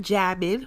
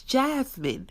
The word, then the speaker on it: Jasmine: to say it correctly it's not jamine without a s it's Jasmine pronunciate your words but